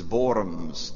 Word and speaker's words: Worms: word worms is is borums the W is pronounced like a V Luther goes there a hero it is was said that 90% of the people in borms were shouting that they